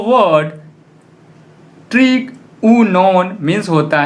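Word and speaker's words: τρίγωνον: तब पहला जो वर्ड है उसका प्रोनाउंसिएशन हम लोग करते हैं ट्रिगुनॉन, जिसका मीनिंग होता है ट्रायंगल।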